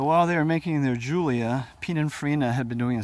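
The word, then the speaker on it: Giulia: the 105 series with the Julia which is not spelled like you would think it's giu li a and that replaced the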